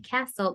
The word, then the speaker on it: castle: here too well no Castle the one Castle the t is silent and this one cat